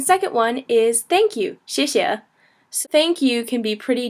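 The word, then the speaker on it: 谢谢: say it um so basically the X makes an sh sound sh so the I makes an e sound and the E makes an e sound like and then we've got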